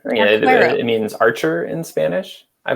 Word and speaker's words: Arquero: And also Arquero, how do you pronounce it, Mike? Arquero. Yeah, Arquero.